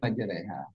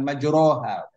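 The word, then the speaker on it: مَجْرٰىهَا: Majreha, dibacanya majre, bukan majroha. Majreha namanya imalah.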